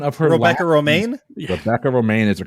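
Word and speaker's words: Rebecca Romijn: that quote it's like the lettuce on the pronunciation of her Rebecca Romaine Rebecca Romaine is a correct answer okay John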